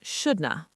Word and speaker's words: shouldn't have: And the negative form shouldn't have becomes shouldn't have or even shouldna. Shouldna, you shouldn't have done that. It almost sounds like a different language. But it is natural, fluent English.